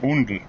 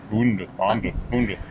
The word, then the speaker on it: Oundle: And we're in, I don't know how you pronounce it, obviously. Undel. Undel. It's probably pronounced Fnorp. Anyway, Oundle.